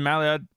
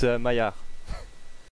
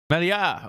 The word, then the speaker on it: Maillard: Did I pronounce your name correct there? Mallard? I keep saying it wrong, I think. Correct us. It's Maillard. Maillard. Oh, I like that. I should have known from the French flag too.